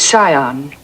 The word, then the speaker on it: scion: Yale, a yacht, and the scion of a prominent family. The word is scion. The C is silent.